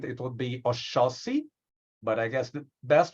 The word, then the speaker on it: Oxóssi: I live in Brazil, and the X in Portuguese words has the ch, the ch sound. So Okay. in Portuguese with Brazilian accent, it would be Oxóssi, but I guess the best way to say is Oxóssi.